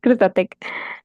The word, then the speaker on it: Krustatec: I guess I should take the Spanish accent to pronounce it right. Correct me. Yes, it's fine. Yes, Krustatec.